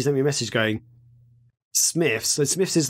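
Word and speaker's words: Smyths: but today she sent me a message going smith so smith's is like a toy shop slash they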